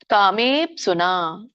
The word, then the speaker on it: ಕಾಮೇಪ್ಸುನಾ: ಬಂದಾಗ ಹೇಳಬೇಕು ಎತ್ತು ಕಾಮೇ ಕಾಮೇಪ್ಸುನ ಮೇ ದೀರ್ಘ ಇದೆ ಕಾಮ ಕೂಡ ದೀರ್ಘ ಇದೆ ಕಾಮೇಪ್ಸುನ ಓಕೆ ಸರ್ ಅವತ್ತು